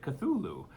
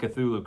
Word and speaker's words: Cthulhu: I have just heard it Cthulhu. But it's spelled very strange.